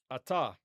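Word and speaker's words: אַתָּה: Now, in modern Hebrew, we don't pronounce gemination or doubling, as we call it. Okay? All right. So, atah. We said the uh the vowel underneath the tav is kamatz, which historically is a long a vowel, but in modern Hebrew, it's going to be pronounced the same as the patah.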